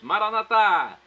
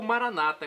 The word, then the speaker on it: Maranatá: E agora eu clamo do aramaico, dialeto de Jesus, para o português: Maranatá, vinde Senhor Jesus. Ou Maranata, como dizem nossos irmãos separados, os evangélicos ou protestantes. A pronúncia não vai influir no resultado, na tradução.